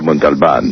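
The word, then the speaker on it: Montalbán: You know, I don't think you're Ricardo Montalban. I love George phonetically pronouncing Mont with the L. He hit the L, which nobody does.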